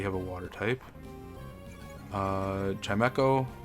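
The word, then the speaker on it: Chimecho: Uh, Chimeo or Kime, I think it's Chimeco. I've always pronounced it that way.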